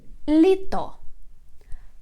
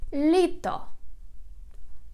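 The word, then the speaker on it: літо: in ukrainian language summer litto litto litto the stress is on the first syllable litto litto and the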